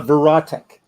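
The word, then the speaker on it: Verotik: stuff before so who published that reprint uh verat verat yeah that's that's a one for me it's spelled v e r o t i k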